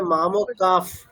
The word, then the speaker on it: मामकाः: আচ্ছা এখানে তাহলে কি করতে হবে, মামকা বিসর্গের পরে কি আছে, পকার আছে, হ্যাঁ ওই তাহলে জন্য বিসর্গের উচ্চারণটা কেমন হবে? ফ। ফ, তাই তো? হ্যাঁ তাহলে মাম কাফ, ঠিক আছে, মানে ফ হসন্ত, মানে এরকম বলবে না মাম কাফ ফ, এরকম না, মানে ফ অকার না, ফ হসন্ত, নিচে একটা হসন্ত আছে, সেইভাবে বলবে।